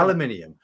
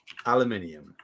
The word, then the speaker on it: aluminium: There's in American English, it's called aluminum. In British English, it has the I-U-M.